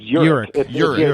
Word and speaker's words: Urich: It's Urich. Urich. Ulrich is usually you think of like Lars Ulrich, with an L, and so Urich is just there's no L.